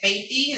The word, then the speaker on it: Faithy: And I pronounce it Faithy, is that right? Yes, ma'am. Yes, Your Honor.